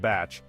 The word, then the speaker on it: bach: in New Zealand Culture The Humble Bach pronounced batch embodies a love for